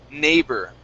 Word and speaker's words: neighbor: And our last word here is neighbor. Okay, ending on a good R sound.